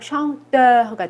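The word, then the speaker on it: chanteur: chante라고 읽거든요. 이것도 슈 발음이고 앙이죠. 여기까지가 샹. 그리고 에흐는 에흐로 발음 난다 그랬죠. 그래서 샹테흐가 돼요.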